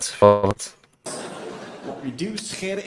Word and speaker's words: Scheire: My last name is Scheire. That's how it's pronounced, Scheire. We have a lot of the g sounds in Dutch. As my foreign friends always say, Dutch is not a language, it's a disease of the throat.